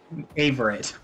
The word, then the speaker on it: Averett: Its first letter is A, so it's an A sound. Averett.